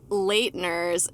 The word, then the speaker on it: Leitner: Actually, every YouTube video was giving us different ways to say it. And what was the best one, Sarina? Can you do it? Leitner. I was like, Leitner.